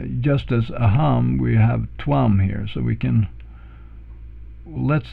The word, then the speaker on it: tvam: And then we take the other word here, which is tvam, and note also what I'm doing here with the Roman V here. It's actually a softer V. It's more like a W in English word.